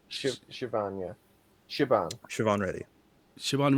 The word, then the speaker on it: Siobhan: Now, I'm not sure if I'm pronouncing her name right, but is it Saban? I think it's Siobhan. Siobhan, yeah.